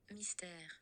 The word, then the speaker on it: Mystère: Mystère. Mystère. Mystère. Mystère. So, yeah, that's how you pronounce it.